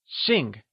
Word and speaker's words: xìng: To be surnamed is translated as Xìng Xìng is spoken in the falling tone also known as the fourth tone Also remember,that x is always spoken with a sh sound in Mandarin! Lets hear you say Xìng Wonderful!